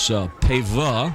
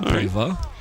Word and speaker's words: Pava: Like I was told by one of the Lake Taylor coaches, the quarterback is Pava, is how they pronounce the name, Pava.